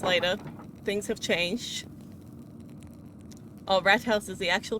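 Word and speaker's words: Rathaus: So it's not a TH sound, it's rat house.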